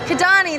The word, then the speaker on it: Kidani: Kidani, that's the one.